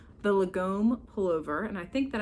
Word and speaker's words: lagom: I like this because it has a lot of cool detail, and this one's called the Lagom Pullover, and I think that I'm pronouncing that correctly.